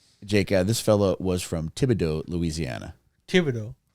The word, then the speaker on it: Thibodaux: Thibodeau sound like a go like the go tiger. You know what I mean? Thibodaux sounds like something you say repeatedly to get ready for pussy eating.